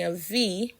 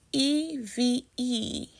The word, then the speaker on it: Eʋe: EVE is pronounced av, or eve, and that just means 2.